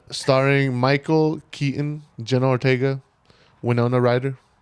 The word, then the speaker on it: Winona: Michael Keaton Jenna Ortega Winona Rider is that how you say it that wiona no it's winon damn well I've been